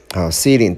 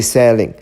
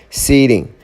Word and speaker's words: ceiling: coming down through through be careful about the pronunciation through the ceiling ceiling don't say selling ceiling the ceiling is inside